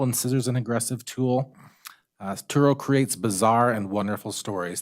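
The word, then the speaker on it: Sturo: Turo is how you pronounce S-T-U-R-O.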